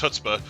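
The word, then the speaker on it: chutzpah: want to see that happen right okay it's pronounced hutzpah but uh anyway I I don't know what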